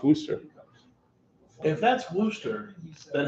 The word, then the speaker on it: Worcester: i i think uh warchester well that's how it looks like it's kind of pronounced but that's how it looks that's how it's spelled but it's pronounced wooster i don't think so